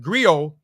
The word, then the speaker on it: griot: professional Encompass many roles the griac pronounced griot have been referred to